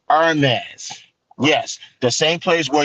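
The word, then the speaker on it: Hermès: partnership their partners with Hermes not hermesh Hermes the H is silent I'm gonna teach you guys something it's Ernest yes the same place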